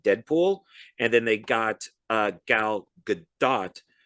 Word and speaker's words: Gal Gadot: type of agent, and Go Godot. I always say her name wrong. Gal Gadot.